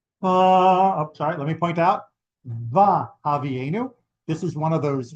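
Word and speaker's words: וַהֲבִיאֵנוּ: Because we are coming before this vowel, it doesn't say vi havienu in the usual form of the conjunctive vav of using vav as an and. Instead, it's va havienu. That is considered the proper pronunciation.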